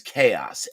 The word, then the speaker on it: Xaos: Um, so today we're going to travel to what I pronounce as chaos, XAOS. Sometimes it's known as XAOS, or it could be pronounced X XAOS, but it's the plane of chaos.